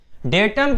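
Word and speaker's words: data: कोई डाटा बोलता है, कोई डेटा बोलता है, तो दोनों ही सही हैं, लेकिन ज़्यादातर अगर प्रोफेशनली देखा जाए तो लोग डेटा बोलते हुए सुने जाते हैं।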